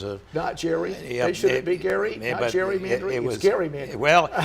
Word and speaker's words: Gerry: Massachusetts he was actually his name is pronounced Gary and he was a Nigerian yeah it was Gary well it's called gerrymandering